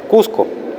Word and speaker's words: cuscu: Y en cuarto lugar tenemos cuscu, que se pronuncia cosas cusco. Nuevamente la u baja a a esas dos variantes de la o y podemos contrastar tica.